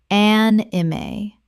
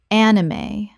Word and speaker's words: anime: Kaizen Kaizen Word 212 anime Common mispronunciation an-i-mae or an-im Correct pronunciation anime Three syllables with the E pronounced at the end.